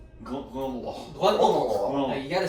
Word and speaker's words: Glendalough: Glendalough. Glendalough.